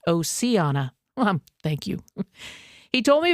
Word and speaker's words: Oceana: Oceana High School in Oceana, West Virginia, pronounced Oceana.